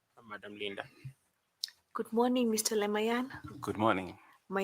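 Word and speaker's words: Lemaiyan: Leayan.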